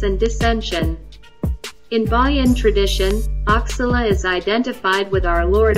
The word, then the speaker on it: Oxalá: Oxalá, pronounced Oxalá, is a Brazilian corruption of the Yoruba Orixá-Enlá, another name for Obatala.